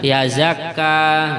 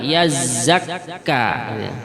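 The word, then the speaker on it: يزّكّى: Nah, kadang sebagian tidak memperhatikan tasydidnya, membacanya yazakka. Nah, ini kurang tepat. Yang benar adalah yazzakka. Baik, kita ulangi lagi.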